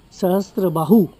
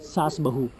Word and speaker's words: Sahastrabahu: Y, pero la gente que vivía aquí no podía pronunciar esa palabra bien. En vez de Sahastrabahu, Sahastrabahu lo llamaban Sasbahu.